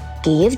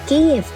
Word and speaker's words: Kyiv: Bahkan kala itu, Kiev juga menjadi ibu kota Rus Kiev dan pusat perdagangan.